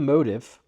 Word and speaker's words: Motiv: But apparently there is SNT Motive, MOTIV. That's how they're pronouncing it and spelling it.